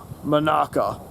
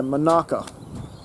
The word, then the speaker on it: Monaka: piccolo boo and um of course beerus's choice monaka that's how you pronounce it yeah monaka anyways difference is vegeta doesn't choose to uh